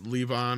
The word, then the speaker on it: Levon: I mean the basic setup is uh you know Levon or is or Levan as they pronounce it in the film is a homeless vet who works for Michael Pena's family uh who owns a construction company.